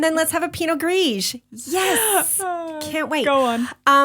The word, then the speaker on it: Gris: Pinot Gris. We're not pronouncing the S.